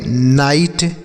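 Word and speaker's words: night: NIGST इसे हम पढ़ेंगे नाइट, NIGST नाइट।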